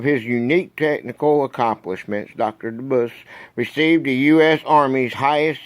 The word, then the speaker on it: Debus: DeBus.